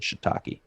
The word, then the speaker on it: shiitake: guy at the counter made me pronounce shiitake mushrooms to him because he thought it was take take he said can you pronounce that for me i said shiitake all right let's get